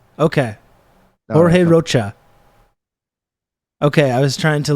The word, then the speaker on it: Rocha: sounding silly it's uh it's not actually Spanish it's Portuguese okay all right good